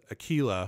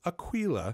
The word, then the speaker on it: Aquila: only in text I was calling this world Aquila for the longest time because it just felt the most natural pronunciation of it for me but I studied Spanish apparently it's Aquila as in aquilin which describes the hook shape